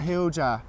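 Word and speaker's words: hoojah: my granny Barry, God bless her, it's a hooja. Hooja, what's that? Hooja. It's the exact same as whatchamacallit. Give us that hooja. What's that hooja? Oh. Turn the hooja on there, will you? How you spell it?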